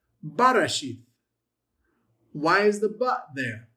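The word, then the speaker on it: בראשית: So it's not resheth, it's Barashith. Barashith.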